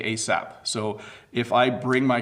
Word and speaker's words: ASAP: We actually say ASAP.